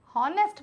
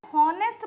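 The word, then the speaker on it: honest: हो हनेस्ट पर इंग्लिश में कई चीजें हम बोलते हैं हम उसको दबा दी जाती है उसकी आवाज साइलेंट वर्ड्स होते हैं तो इसको पहले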